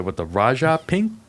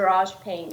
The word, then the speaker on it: Raj Pink: All right, next we have the Raja pink. Is that how you pronounce it? The Raj pink. Raj. Yes. Yes.